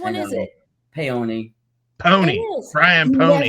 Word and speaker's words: Paone: Brian, do you pronounce it? I thought it was all these years. I've thought it was Brian Paone. I know Not everybody Paone. does. Which I one is know. it? Paone. Pony.